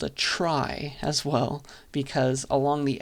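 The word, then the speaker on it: trie: an example of a data structure called a try as well because along the edges of the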